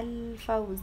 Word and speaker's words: الفوز: انا بنطق اللام، هي الفوز تبقى قمرية.